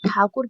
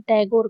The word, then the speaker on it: ठाकुर: British शासन में उनके उपनाम का उच्चारण गलत करके उन्हें टैगोर कहा गया। मतलब उनका कुछ ठाकुर कहते थे। उनको गलत कहते कहते वो टैगोर पड़ गया।